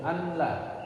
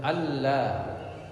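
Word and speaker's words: أن لا: Bukan asyhadu anla. Tulisannya an la. Tapi bacanya ashadu alla.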